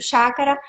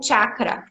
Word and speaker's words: chakra: Então, hoje nós vamos estar trabalhando mais relacionado e falando mais relacionado ao nosso quinto chácara, o chácara laríngeo. Chácara ou chakra tem várias formas, várias pronúncias.